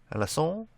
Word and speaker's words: Alençon: Alençon, I believe is how it's actually pronounced.